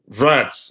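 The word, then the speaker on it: Wirtz: Yeah he has that kind of aura verts. Okay verts. But thank you thank you for the education Jeremy. I appreciate Jeremy. Nice one. Verts. Okay. German pronunciation. Verts. Ver. Okay.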